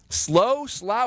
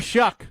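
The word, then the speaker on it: Shough: He was just in New Orleans as the quarterback's coach there, helping Tyler Slough, however you pronounce his name, become basically... Shuck. Tyler Shuck. That's how you pronounce it? Shuck? There's no L.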